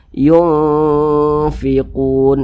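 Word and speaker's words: يُنْفِقُونَ: Jangan dibaca yungfiqun, jangan, tapi seimbang di tengah-tengah. Yungfiqun. Nah, kadar samar dan kadar dengungnya itu seimbang. Yungfiqun.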